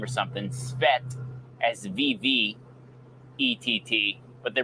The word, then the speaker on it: Swett: it's so sweat s-w-e-t-t so um so yes I know it sounds like sweat as in perspiration but it is spelled differently laughs at the current